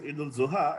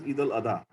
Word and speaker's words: Eid al-Adha: Very true, because see, it's a Shia and Sunni way of saying it. Okay. Earlier it was used, it used to be pronounced as Eid al-Zuha, and now because we are using the Saudi thing, so it is known as Eid al-Adha.